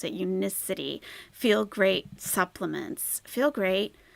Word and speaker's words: Unicity: with the Unicity I found out how to pronounce it Unicity feel great supplements feel great lose weight make